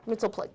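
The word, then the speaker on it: Mxyzptlk: And honestly, I think I don't know then how to pronounce his name. It's that's supposed to be Mistleflick, right? Mistplick.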